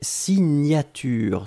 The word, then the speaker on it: signature: Deuxième chose, un substantif et c'est signature. Souvenez-vous, le GN, la prononciation c'est gne gne gne gne gne.